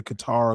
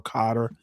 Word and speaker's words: Qatar: I usually pronounce it Qatar. I think you can pronounce it either Qatar or Cotter.